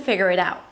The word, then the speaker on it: figure it out: Figure it out, as if it's one word.